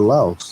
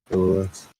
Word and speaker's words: Los: Or did you want to go to Laos? Is that how you pronounce it? Laos? L-O-S? Los. Los. Okay.